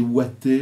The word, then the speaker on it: Wattez: C'est un double, donc effectivement, le père, c'est Daniel, la mère, c'est Violette, le nom de famille, c'est Wattez, W-A-T-E-Z, qu'on peut prononcer Watté aussi, voilà.